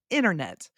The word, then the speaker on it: internet: In my particular accent, I do not pronounce the T's almost at all. For example, the word button, internet. Where did the T go? I don't know. We don't need it.